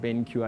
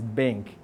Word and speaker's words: BenQ: So BenQ came out with this budget to try rebrand, because people were not pronouncing it BenQ as they intended. They were reading it as bank, right?